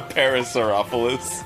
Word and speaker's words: Parasaurolophus: A Parasaurolophus.